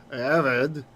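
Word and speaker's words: עבד: Avid. Avid means servant or slave. Okay. And it's written like this. And the accent is on the first syllable.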